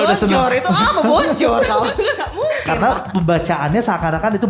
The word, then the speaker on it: bonjour: Bonjour itu apa bonjour tau? Karena pembacaannya seakan-akan itu bonjour gitu ya. Kalau orang Prancis itu huruf terakhir nggak dibaca, nggak pernah dibaca aja.